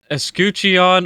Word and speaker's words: Escutcheon: This is the Escutcheon of Coral.